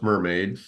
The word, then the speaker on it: MRMD: of the talk so mrmd which you may pronounce mermaid is as it says